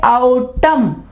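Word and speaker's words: autumn: अगर एन से पहले एम आ जाए तो एन जो है वो आवाज नहीं देगा। इसको हम पढ़ेंगे आउटम। ठीक है, ये मौसम खिजा को कहते हैं आउटम।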